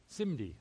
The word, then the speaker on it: SIMD: And this is called a single instruction multiple data machine, or it's pronounced SIMD, S-I-M-D. So it's usually called SIMD.